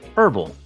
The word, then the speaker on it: herbal: Well, for me, I'm going to be reviewing a herbal style of coffee. So can't wait to see what happens with that. Did you say herbal? Yeah, like a herbal. You know the H is silent, right?